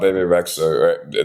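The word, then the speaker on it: Bebe Rexha: so we know about bab rexa that's how you pronounce her name b rex B BB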